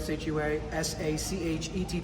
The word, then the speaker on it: Sachetti: SACHETTI. The H is silent. Sachetti. That's it.